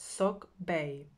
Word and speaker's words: sacbe: of sophisticated ancient roads called sacbe pronounced sock bay these were stone road